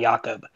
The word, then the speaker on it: Yahkob: West, and then Twitter and Instagram, 307 Jakob. That's spelled YAHKOB.